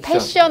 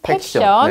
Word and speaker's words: 팩션: 패션 아니고 팩션.